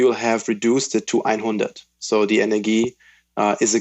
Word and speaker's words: EINHUNDERT: So, Ernesto, tell me, you are the founder of, do I pronounce it correctly, EINHUNDERT Energie? Exactly. So EINHUNDERT as the number 100, EINHUNDERT, and then it's Energie.